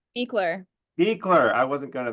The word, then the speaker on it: Buechler: Beekler. Beekler. I wasn't going to there. I was Butchler is what I was going for.